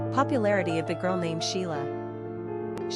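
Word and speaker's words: Síle: where the name was interpreted as Sile in the Gaelic tongue, pronounced Sheila, which eventually became anglicized as Sheila.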